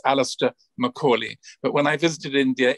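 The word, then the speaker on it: Alastair Macaulay: works and if you want to check the pronunciation of my name it's alistair macaulay but when i visited india it was a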